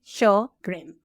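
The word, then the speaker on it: Sjögren's: So the way I explain okay how to say show just think about the TV show show and then grin. Can you say it for me? Show grin.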